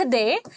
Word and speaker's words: the: है, उसके पहले अगर हम ये वर्ड लिख दें तो उसका प्रोनाउंसिएशन हो जाता है दी.